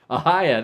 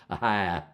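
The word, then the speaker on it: Ohio: Ahia, that's right. That's why they say, I think that's how they say it in West Virginia too. Ahia.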